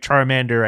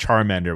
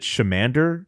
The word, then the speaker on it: Charmander: A Smith uh picked Charmander when he was asked this question oh did he see Stephen A is older than me so yeah well actually he pronounced it shander and the only reason